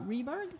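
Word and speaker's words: Rehberg: a strong campaign against Republican Denny um uh reberg yep did I say it right right that's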